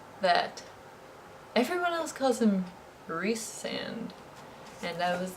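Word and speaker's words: Rhysand: is the other guy and i have been pronouncing his name ryzen the whole time and then just now it occurred to me that everyone else calls him rhys sand and i was like why is that and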